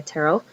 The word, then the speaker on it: Terell: I've always gone by Terell uh I know tarell looks kind of funny but it's pronounced like Carol with a t a couple things about